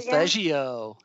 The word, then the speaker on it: Solfeggio: Solfeggio.